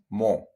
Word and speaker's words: mo: like in most languages you just round your lips and you say mo and you finish with your round lips more okay you don't